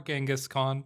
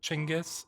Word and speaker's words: Chingis: one and only Timujin, otherwise known as Chingis Khan or Genghaskhan, probably the more common pronunciation. However, I am of the understanding that Chingis is the closer to the proper way to pronounce it.